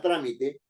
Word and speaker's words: trámite: Si no le pongo acento en la A para que diga trámite, yo digo, el trámite está realizado.